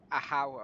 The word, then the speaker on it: Ahau: Ahau, I should say. That's how you pronounce it.